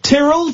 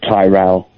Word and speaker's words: Tyrell: Beyond the Grave itself trell trell how am I pronouncing your name it's Tyrell Tyrell okay there we go